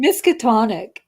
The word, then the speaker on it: Miskatonic: Yeah, so Miskatonic, did I pronounce that right?